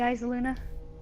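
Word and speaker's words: Eyasluna: The eyes, Luna. That's actually how you're supposed to pronounce it. Actually, it doesn't matter. Well, I've seen most pros say eyes, Luna.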